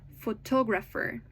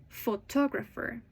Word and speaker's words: photographer: Uh, when you pronounce a stress syllable, it's not well, it's usually louder, longer, and clearer than the others. Listen carefully. Photographer. Photographer.